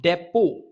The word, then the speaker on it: depot: Salt depot. Okay, salt depot means storage of salt. Depot, we pronounce it as depot.